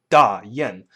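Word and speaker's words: Dayan: In Chinese, it's pronounced Da Yan.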